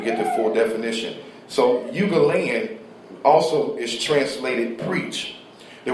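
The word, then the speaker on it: εὐαγγέλιον: The Greek word eugaleon. I'm gonna spell it for you.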